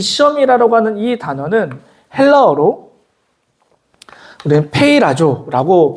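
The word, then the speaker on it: πειράζω: 되는데 오늘 본문에이 시험이라고 하는이 단어는 헬라어로 우리 페이라조라고 발음을 합니다이 시험이라고 하는 단어가 성경에서 약 세 가지의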